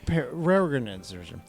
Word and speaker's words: Peregrine: It's spelled very differently than it sounds. Yeah, Peregrine.